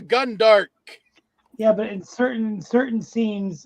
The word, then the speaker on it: Gundark: What is a Gandark? I'm not going to penalize you for mispronunciation, but it's a Gundark.